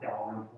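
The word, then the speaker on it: Dalrymple: is Roswell Road at, I'm gonna spell it. It's D-A, I believe this is a L-R-Y-M-P-L-E Pronounced Delaware.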